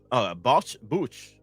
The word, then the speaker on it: bouche: In French, bouche means mouth and is pronounced bouche, then bouche.